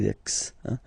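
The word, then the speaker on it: Mexique: Canada Lex Lex. It's really lmex. And then remember this C. It's only K Mexican.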